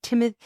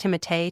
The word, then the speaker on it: Timothée: Isn't it's the person that wrote this said Timothy, because his name is pronounced Timothée technically.